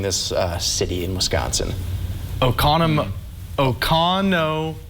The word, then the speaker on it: Oconomowoc: yeah how would how would you go about pronouncing this uh city in wisconsin o'connor o'connor oconomowoc i'd give that to him yes it is